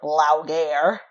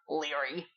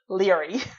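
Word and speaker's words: Laoghaire: AI R e okay like how would you pronounce them I don't know I thought it was loud err okay so I'm watching this video and apparently it's pronounced Leary what's just Leary okay yeah like what the and on the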